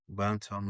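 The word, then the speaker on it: bantam: But this is this is this guy's pronounced banttom way, right? Banttom. Yeah. Banttom like atom.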